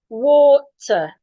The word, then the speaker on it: water: Now, because of the letter R here, Americans will articulate it and say water. British will not articulate it.